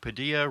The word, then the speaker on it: Padilla: We want to thank again David Peterson and Mike Padilla, Rhymes with Tortilla, and this is Our Own Voice, and we will be back next time.